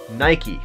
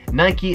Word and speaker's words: Nike: by people telling me Nike is pronounced Nike because bike is pronounced bike so bike Naik same thing on my question for